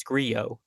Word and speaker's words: Grillo: play here in Emiliano Grillo or really it's griot if we want to talk about you know Spanish pronunciation but don't mind me